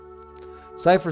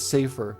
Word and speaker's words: Cipher: Cipher spoken like cyber is the correct German pronunciations. Yeah, that's how I'd say it. Cipher. That's how that's how my brain saw it. But some read it as safer.